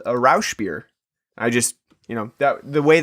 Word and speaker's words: Rauchbier: Rauchbier.